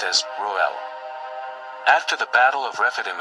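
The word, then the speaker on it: Reuel: and means friend of God, or divine friend, pronounced as Ruel.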